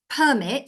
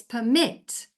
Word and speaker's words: permit: of a word So when you say one way it's permit so the stress is on the per the other way it's permit and the stress is on the MIT so it's not just